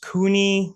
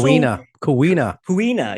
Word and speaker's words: Kuina: But all the characters that were introduced, Kuni, who is the also Kuina.